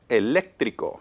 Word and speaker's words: eléctrico: So where do you hear the stress? I hear le. Ele. The third to the last syllable.